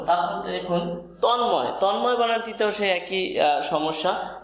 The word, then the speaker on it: তন্ময়: এখানে কিন্তু ম দ্বিত্ব করেনি, এখানে ন এবং ম উভয়ের উচ্চারণ থাকার কারণে আমরা এখানে এটিকে যুক্ত বর্ণ ভেবে এটিকে ভেঙে দিয়েছি।